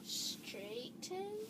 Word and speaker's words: straightened: Straightened. Straightened. Okay, so let's start from the beginning of that. That is a tricky word. So, straight. There's that GH sound again.